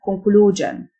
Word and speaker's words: conclusion: Appropriate خاتمة conclusion. SION تنطق جن.